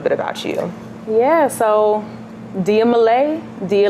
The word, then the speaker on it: Dia Malai: about you yeah so Dia Malay do you like day Malay like Malaysia that's how you pronounce it sing a songwriter born